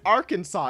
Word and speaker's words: Arkansas: Why would you pronounce it Arkansas? It's Arkansas. Like it is literally spelled Arkansas.